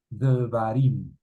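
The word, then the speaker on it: דְּבָרִים: Esto quiere decir que se transcribe y se pronuncia como una E muy ligera. Devarim.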